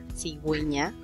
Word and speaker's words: cigüeña: en las siguientes ocasiones, para indicar que hay que pronunciar la vocal U en la combinación de ge y gi, por eso es que suena cigüeña, pingüino, ¿sí?